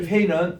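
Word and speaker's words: פא: 요게 페이는 아까 우리 카프 있죠?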